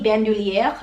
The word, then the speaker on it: Bandoulière: what kind of bag this is the Speedy Bandouliere. I'm fluent in French, so I do know that's how you pronounce it.